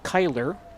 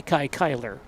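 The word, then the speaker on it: Cuyler: In case you're wondering about Soppe's name, Kyler, C-U-Y-L-E-R, yes, it's spelled the same way as the name of the Hall of Fame outfielder, Kai Kyler, who played back in the 1930s.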